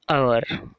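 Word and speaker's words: hour: इसका प्रोनाउंसिएशन को हम कहेंगे एन अवर। तो यहाँ पर आपको ओ का साउंड आएगा दोस्तों। हाँ, एच को आप प्रोनाउंस नहीं करेंगे, आपको एच साइलेंट हो जाएगा, सिर्फ आप कहेंगे एन हावर।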